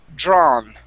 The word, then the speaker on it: drawn: it's the AW is only in an ah sounds. So we're going to say drawn.